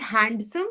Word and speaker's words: handsome: By the way, is it handsome or handsome? Handsome. Handsome. Handsome. Spelling is handsome, but D is silent when we're pronouncing it.